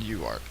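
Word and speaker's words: UART: serial interface which is also called you art and you art is pronounced like that and you should look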